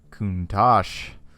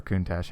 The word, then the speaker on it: Countach: with everyone's favorite childhood bedroom poster, the Lamborghini Countach. Or Countach, however you want to pronounce it, whatever.